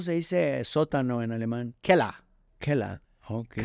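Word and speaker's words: Keller: Kela.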